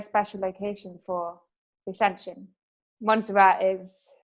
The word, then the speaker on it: Montserrat: Or how do you pronounce the mountain that you go to? Montserrat, yeah.